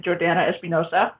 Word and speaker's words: Jordanna Espinosa: excellent great hey everybody i'm jordana espinosa that's how you say my name um oh it's like